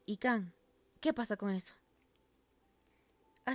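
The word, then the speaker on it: Yquem: ¿Yikin? Se pronuncia Ican.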